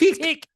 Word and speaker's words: Tick: So every time somebody was like, "Hey, Tech," I'm like, "No, you're pronouncing it wrong. It's Tick.